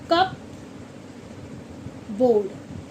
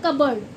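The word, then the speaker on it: cupboard: अगर हम इसे बोलेंगे तो इसे हम बोलते हैं कबर्ड। अगर आपने देखा होगा। इसे हम बोलते हैं कबर्ड। इसमें पी साइलेंट है। क्या है? पी साइलेंट है। कप बोर्ड नहीं बोला जाता या कप बर्ड नहीं बोला जाता।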